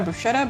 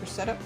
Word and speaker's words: bruschetta: You know bruschetta but not pronounced brusetta.